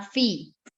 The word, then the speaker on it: Phi: Luego viene Pi, que se transcribe como PHI y se llama Fi, ¿sí?